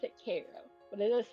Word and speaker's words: Cairo: built on the Nile interesting it is called Koo they do pronounce it Koo but it is spelled Cairo and but what